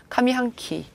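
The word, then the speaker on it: 上半期: 자, 이거 카미라고 해서 훈으로 읽고요. 뒤에 거는 또 음으로 읽습니다. 카미 한키.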